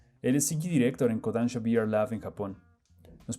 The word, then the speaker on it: Kodansha: Hay una extensión de la O, pero bueno, Kodansha.